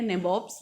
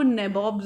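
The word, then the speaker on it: nabob: अब यहाँ पे नैबॉब जो वर्ड है ये एंग्लिसाइज्ड होता है। जब किसी लैंग्वेज से हम वर्ड को उठाकर लाते हैं, थोड़ी प्रोनाउंसिएशन में चेंजेस आ जाती हैं, तो नवाब का बन गया नैबॉब्स।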